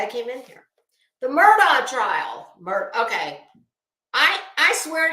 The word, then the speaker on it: Murdaugh: from before the trial even started that it's pronounced Murdoch so that's what I'm gonna say Alex Murdock